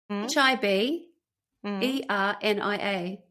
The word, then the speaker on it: Hibernia: I've heard it said, but it doesn't sound the same as it looks. H I B E R N I A.